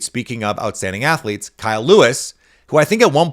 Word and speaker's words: Lewis: Speaking of outstanding athletes, Kyle Lewis, who I think at one point I called Kyle Louis, like I gave him the French pronunciation, from Pittsburgh.